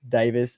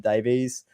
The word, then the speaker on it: Davis: Now, actually, Tony Firth corrected me last night after my stream and said it's Davis, not Davies.